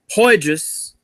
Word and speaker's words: Poydras: Don't forget, Sunday at high noon in the Terror Dome on Poydras. Did I pronounce that right? Yes, you did. All right, cool. On Poydras, high noon showdown with the Monsters of the Midway, Chicago Bears.